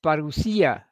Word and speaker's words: parousia: back at his future parousia. I'm using the Greek word for the second coming there, using the modern Greek pronunciation because our Greek friends like that.